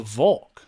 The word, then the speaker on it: Volk: no the volk uh i guess maybe it is they just call it the valk maybe how do they spell